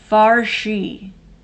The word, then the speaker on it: fear: Farshi is the pronunciation. Okay. I've heard that. So you're saying that fair comes from the word, the Gaelic word fear. It's spelled fear. Fear. Okay. So it's Farshi.